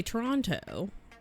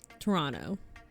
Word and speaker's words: Toronto: Oh, they don't pronounce the second T. If you say it Toronto, if you if you annunciate Toronto, if you say Toronto, that's a tourist. Toronto, you just kind of like throw it out there.